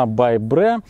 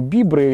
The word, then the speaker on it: Bybre: Если вы посмотрите здесь на суппорте, так и написано Bybre. Это читается именно так, не Bibre или еще что-то. То есть сделано Brembo, by Brembo.